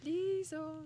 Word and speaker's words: Liesel: Liesel. What's Liesel mean? I actually looked it up and I don't remember. It rhymes with diesel.